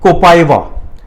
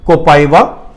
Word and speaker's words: Copaiva: तो हमारे पास काफी ड्रग्स हैं, जैसे 2 कॉमनली ड्रग्स जो यूज करते हैं, एक है कोपाइवा, स्पेलिंग है COPAIVA, कोपाइवा, और दूसरी कॉमन ड्रग है कैंथरिस।